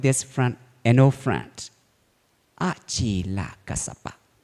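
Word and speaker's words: Acela: One day, when he met with his friend, an old friend, Achila Kasapa. Achila means 3 syllables, actually 2 syllables. A and Chila.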